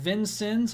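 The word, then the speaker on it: Vincennes: and the hail cores it's pronounced vincon okay thank you very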